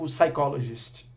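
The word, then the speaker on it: psychologist: sabe que existe é igual saikologist tem muita nativo que cresceu não sabendo que existe um p em sacolas ensaio Tem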